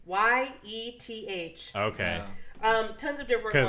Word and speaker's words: Yeth: There's Yethhound. Yifhound? It's Yeth.